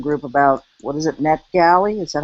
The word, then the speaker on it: NetGalley: And then I read in the Edmodo group about, what is it, NetGalley?